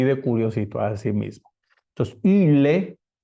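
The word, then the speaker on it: ὕλη: l e esa y se pronuncia poniendo los labios como u Pero dentro de la boca pronunciamos una I ile así de curiosito Así mismo entonces yile o en latín Silva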